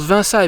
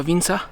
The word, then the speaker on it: Vinça: Alors j'ai appris depuis que ça se prononce Vinça et pas Vinça.